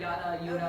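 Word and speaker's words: Jutta: Well, you hear it pronounced, you hear it, Yuta.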